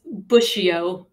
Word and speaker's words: Bussio: It's Bussio. Like the shrub, Bussio. Yeah. Okay. I've been saying it Bussio in my head this